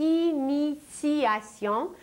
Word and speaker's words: initiation: mais nous parlons de initiation où un T se prononce comme un C mais en réalité il s'agit d'un T et la racine du mot initiation c'est i t I